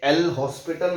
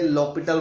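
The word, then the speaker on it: L'Hôpital: इसे L हॉस्पिटल नहीं बोलते, लॉपिटल बोलते हैं, लॉपिटल, H इज साइलेंट, है ना।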